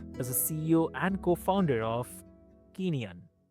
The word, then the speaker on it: Kineon: So, Forrest Smith is a CEO and co-founder of Kineon. Am I pronouncing correct? That's correct. It's the from the Greek for movement.